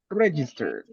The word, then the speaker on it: register: this word the register register yeah the emphasis should be at the beginning the register talking about